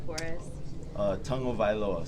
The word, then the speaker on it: Tagovailoa: name for us uh tongue o vioa so you say tongue first o vioa what's the funniest um